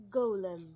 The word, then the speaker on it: golem: Golem. First comment. I keep noticing some people pronounce this word like the Lord of the Rings character Gollum.